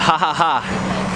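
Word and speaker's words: Jajaja: So we found this place called Ha Ha Ha Taqueria. It's spelled the Spanish way though, J-A-J-A-J-A.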